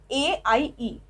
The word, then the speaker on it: aie: With tu and with avoir we use aie, A-I-E. Okay, pronunciation is aie.